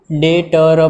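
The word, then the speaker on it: debtor: डेटर, इसमें B silent होता है, डेटर पढ़ते हैं उसको।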